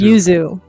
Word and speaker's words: Yuzu: y you what Yuzu Yuzu like y u zuu pronounce Yuzu like the emulator it is a it